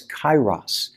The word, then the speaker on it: kairos: on him and so the word paul uses when he says make the most of your time is not pronounced now it's kairos it speaks of a